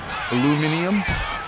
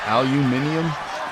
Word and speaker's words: aluminum: Aluminum. Aluminum. What? What pronunciation do you want? Aluminum. Aluminium. I don't know. People say weird. It's aluminum.